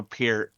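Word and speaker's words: Peart: like unless you're Neil Per, you're kind of taking a backseat unfortunately. Right. Right. or I'm sorry, Neil Pier. I I know, God rest his soul he pronounces it like that, but um I dare you, sir.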